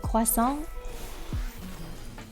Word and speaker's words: croissant: This is like this is kind of like when people get a little peeved when I say croissant. They're like, Midna, it's croissant. Why do you say it like that? It's croissant. You mean crescent? It is croissant. Croissant. Am I fluent in French? No, I'm not fluent, but I have cousins, I have family from France.